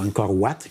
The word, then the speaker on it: Angkor Wat: Puis la première fois que j'avais fait Angkor Wat, ou Angkor Wat, comme ils disent, comme on a le prononcer en khmer, là, qui veut dire monastère, mais qui est la ville où...